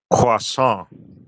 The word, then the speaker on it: croissant: Croissant. Pretty close. Try emphasizing the nasal sound at the end a bit more, like croissant. How does that feel? Croissant.